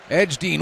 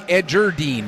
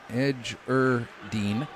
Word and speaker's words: Edgerdine: mispronouncing any players names that should be edgerdine I see so there's an R there Edge ER Dean so if I'm mispronouncing